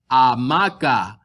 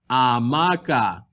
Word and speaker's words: hamaca: At the beginning of a sentence, an H is silent.